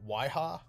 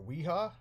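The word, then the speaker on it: Wiha: pronounced correctly or what it's w-i-h-i w-i-h-a it's a waiha or weha uh it's a german brand and this is just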